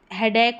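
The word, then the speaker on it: headache: जैसे हेडेक होता है वैसे ही ए सी ई ए सी एच ई एकक प्रोनाउंस करेंगे।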